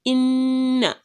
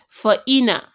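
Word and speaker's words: إنّ: are 2 nuns there, so it means it will be inna and not just ina. If that shadda was not there, we would pronounce it as fa'ina, fa'ina, but because we want to pronounce the 2 nuns there, we would say fa'in, then na.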